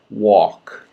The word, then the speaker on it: walk: Walk. No L. No L. Awk. Walk. Awk. Walk.